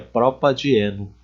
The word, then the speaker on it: propadieno: Para melhorar o som, ficar mais agradável ao ouvido, para melhorar a pronúncia também, nós podemos colocar essa letra A aqui. Ó. Então, ficaria propadieno.